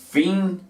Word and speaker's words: finger: Finger. Así se escribe, ¿cierto? Dedo tiene 2 sílabas. Finger. Y se pronuncia exactamente igual. ¿Por qué? Porque ambas terminan en consonante.